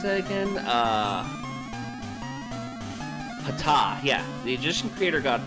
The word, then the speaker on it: Ptah: to the Egyptian creator god how do I pronounce that again? Ptah, yeah, the Egyptian creator god Ptah, who is known as the ruler of the sky and was symbolized by a bull.